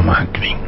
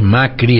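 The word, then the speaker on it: Macrì: No, creo que ese acento no se lee, no se pronuncia. Creo que es Macri a pesar del acento.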